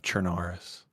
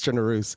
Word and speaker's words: Chernarus: The pronunciation of Chernaris. It's Chernarus. I've seen you say that. I've caught you saying that over and over again, but